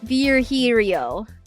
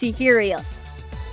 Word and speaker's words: Virgilio: No, I'm pretty sure you said it's Virgilio.